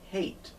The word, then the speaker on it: hate: verb consonant but then we tap on an extra e at the end we get this word b hat but the e makes the a go long hey hate which you should not